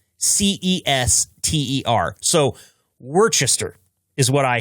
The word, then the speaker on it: Worcester: The, the name of the town is spelled Worc Est. Er, so Worchester is what I hear. No, uh, all those fine people in Massachusetts will tell you this is Worcester Massachusetts.